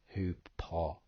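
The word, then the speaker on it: ὑπό: see over the word hupo, it says HYPO as the phonetic pronunciation, but when you do click on that strong number, it will explain to you the pronunciation is hupo.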